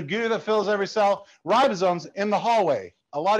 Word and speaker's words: ribosome: you're right or not it makes a long long eye long eye yeah ribosomes long eyes ribosomes long eyes the eye